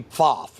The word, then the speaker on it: Pfaff: But it would be Pfaff is how you would pronounce it in German. But Pfaff is how we've Americanized it.